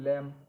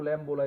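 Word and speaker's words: lamb: ठीक है, तो जैसे एल ए एम बी लैम, इसको लैम बोला जाता है, लैम। लैम ब नहीं बोलेंगे इसको, लैम, एल ए एम बी लैम, लैम माने मेमना। यहाँ ये बी साइलेंट है।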